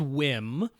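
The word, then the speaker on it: WiiM: using, or should he maybe just get a Wham amp? Now, they say it's pronounced Wham, but I agree with you.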